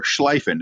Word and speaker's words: Schlieffen: So in World War One, the German plan, we're going to call this the Schlieffen plan, is to, or Schleifen, depending on your German pronunciation.